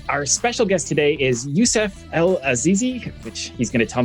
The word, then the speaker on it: Youssouf EL Azizi: So my name, to pronounce it correctly, my name is Youssouf EL Azizi.